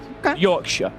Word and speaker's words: Yorkshire: Just like Shire, like Lancashire. I'm from Lancashire. Right. Lancashire. The North Americans tend to pronounce the Shire. That's more of a sh. Sure. So Lancashire. Yorkshire.